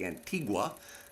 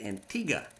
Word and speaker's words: Antigua: we're going to Antigua looks like Antigua but it's not pronounced that it's pronounced Antigua in the in the Caribbean we stayed at the